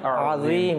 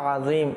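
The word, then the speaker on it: عظيم: মধ্যে যেটা সুবহানা রাব্বিয়াল আজিম সুবহানা রাব্বিয়াল আজিম এখানে অনেকে আইন জেটা রয়েছে আজিম আজিম এটা উচ্চারণ করতে পারে না তাইলে এটা তো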